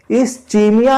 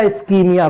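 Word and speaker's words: ischemia: इस्चीमिया या इस्कीमिया, कुछ भी आप प्रोनाउंसिएट कर सकते हो, है ना?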